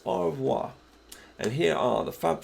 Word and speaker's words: au revoir: another week but say goodbye in French it's au revoir and here are the Fab Four teaching you